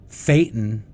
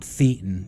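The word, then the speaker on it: thetan: And a good way to that I always tell people to remind that to remember it is fatan rhymes with Satan.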